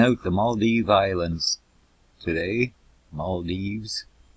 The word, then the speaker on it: Maldives: Maldives. I guess you got to pronounce it with the S.